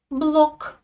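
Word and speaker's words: блог: Je prononce exactement la même chose dans les deux cas. Je ne peux pas dire en russe en ge final. Non. En russe, tous les mots vont se terminer par k, même si à l'écrit,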